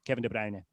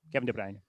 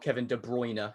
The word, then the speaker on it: Kevin De Bruyne: So um the Flemish version is the one that I that you'll hear me use which is Debr. Kevin de Brne. Kevin de Brne.